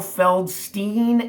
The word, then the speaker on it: Feldstein: If you want to know between Feldstein and Krigstein or Feldstein and Krigstein, Al Feldstein is the right pronunciation.